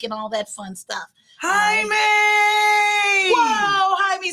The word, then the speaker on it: Jaime: Jaime. He said, say hi and then to yourself, me. But it's Jaime. Like Kwame.